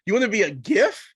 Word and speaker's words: GIF: She's like, it's not a GIF, Gail. It's a GIF. I was like, but it's spelled with a G.